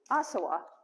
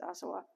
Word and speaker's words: Asawa: are inspired by ruth asawa and as i understand in japanese you don't put any emphasis on this syllable so i hope i'm pronouncing her her name correctly ruth asawa i regularly i regularly